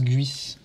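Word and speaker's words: Geass: guiss il m'a dit ça se prononce guiss ah ouais code guiss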